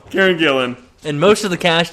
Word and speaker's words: Gillan: try again l fno Jillian or is it Gillan Gillan Karen Gillan which is a b Karen Gillan and most of the